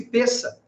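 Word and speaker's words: Pesach: a palavra pensa em hebraico p e s s a c h pronuncia-se peça e peça significa passagem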